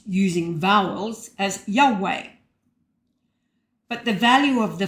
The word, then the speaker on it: Yahweh: So to be pronounced using vowels as Yahweh.